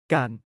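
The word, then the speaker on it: กัน: Gone is pronounced with a midtone and a long vowel. Kind of like saying gone but cutting it short.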